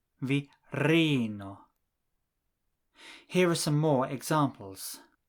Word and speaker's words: virino: Esperanto words are always stressed on the last but one syllable. If you change the ending from o to ino, the stress will also change. For man, the last but one syllable is the first syllable, viro. But for woman, the last